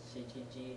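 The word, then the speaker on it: 七時: What's the other pronunciation for 7? Okay, so which one is it? Shichi ji.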